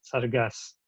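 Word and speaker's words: цæргæс: Вот есть такое удачное слово, в котором есть и фонема «ц», и фонема «с», «саргас», «орел». И говоры по произношению фонемы, которые графически отображаются в виде русской буквы «ц», делятся на цокающие, сокающие и шокающие.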